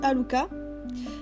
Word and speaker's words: Haruka: Ah, donc je veux dire Haruka, parce que je sais que ça se dit Haruka. Donc c'est Haruka, mais j'ai avoir du mal à prononcer le R en L.